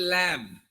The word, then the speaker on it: lamb: When the B is there, we should not pronounce.